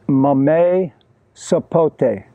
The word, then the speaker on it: mamey sapote: What I have here today, this is called mamey sapote. M-A-M-E-Y-W-S-A-P-O-T-E, mamey sapote. This one here is called sapodilla. It's spelled S-A-P-O-D-I-L-L-A.